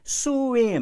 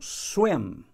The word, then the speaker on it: swim: O verbo swim, ó, swim, swim, é uma sílaba só. A tendência, às vezes, é swim. Não, tá errado, não é assim. Aqui é pelo som. Então, swim, uma sílaba só.